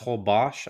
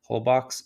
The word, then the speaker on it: Holbox: It's pronounced Holbox, I guess, but I just hate to sound pretentious, so I'll just say how it looks, Holbox, and it is an hour and a half north of Cancun.